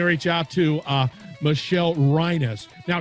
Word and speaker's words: Reines: out to uh michelle reinis now she spells it just fyi r-e-i-n-e-s yes but it's uh pronounced rhinos so don't make that